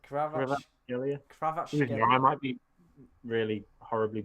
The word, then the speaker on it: Kvaratskhelia: But to be fair, it's actually written not far from how it should be pronounced. I think because it's like Kvaratskhelia. Yeah, Kvaratskhelia. Kvaratskhelia.